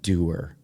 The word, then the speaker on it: Duer: And tell you about Doer. Doer is built for doing. It's spelled D-U-E-R, but think about that catchphrase.